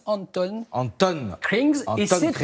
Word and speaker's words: Antoon: ce matin ça alors ça s'écrit antoun à n 2 t2 au hand krings mais ça se prononce anton anton krings et sans